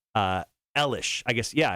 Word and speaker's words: Eilish: I'm going to ask you to spell Billie Eilish's last name. Eilish. That is correct. Boom! Because I put it in so much. A lot of people actually say her last name is Eyelash, but it's Eilish.